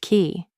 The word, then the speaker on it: CE: This is why we say CE is pronounced key.